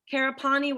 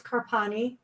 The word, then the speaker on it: Karpani: It looks like, I think Karapani was first. Did I pronounce that right? I'm terribly sorry. Yes, no, thank you. It's Karpani. Karpani.